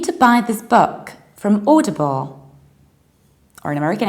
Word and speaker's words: Audible: never pronounce this like owl or oh you pronounce it like or audible exactly the same way you pronounce Auto or